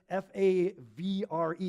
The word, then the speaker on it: Favre: day when Brett Favre, who doesn't even know how to say his own name correctly, the consonants are flip-flopped. You're like, spell your name right, dude. All right, you gunslinger. F-A-V-R-E is Favre.